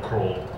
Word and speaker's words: Krol: I would have loved to talk about a Dutch writer who's completely unknown in the United States, Gerrit Kroll.